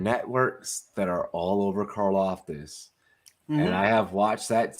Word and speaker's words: Karlaftis: Is that how you pronounce it? Karlaftis? Thanks. Karlaftis, George Karlaftis.